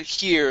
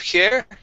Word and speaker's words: here: All right, let's go to the word here. Instead of here, it's he, here. Go to that long E sound, okay?